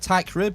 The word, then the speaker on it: Teichrib: this podcast call TI crib is that correct TI crib is that the correct pronunciation that's absolutely right you nailed it super